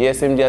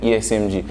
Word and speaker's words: ESMG: ISMG c'est ESMG. On prononce ISMG.